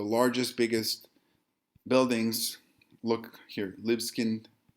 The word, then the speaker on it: Libeskind: None other than Daniel Liebeskind auf Deutsch. Daniel Libeskind would be the pronunciation in American English.